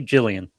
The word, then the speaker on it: Gillian: With a G. So the G, Gillian. Gillian.